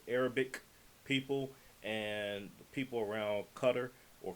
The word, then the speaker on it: Qatar: the origins of Arabic people and people around cutter or qar as some will pronounce it but we we're going to get